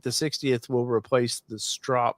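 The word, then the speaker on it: Stroppe: So Rob's asking, do you think the 60th will replace the strop? Did I say it right? Strop? You did. It's like stop sign.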